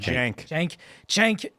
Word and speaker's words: Cenk: Cenk.